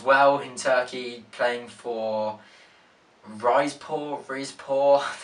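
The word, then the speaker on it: Rizespor: He then fancied a stint as well in Turkey, playing for Rizpor, that's how you say it.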